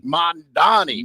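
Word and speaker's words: Mamdani: I reckon we had the big debate in New York City with Mondavani or Mondabani. How do you say his name? Mondani.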